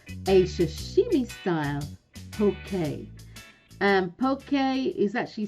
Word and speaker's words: poke: said to you before that is spelt p-o-k-e but pronounced pokey i have all my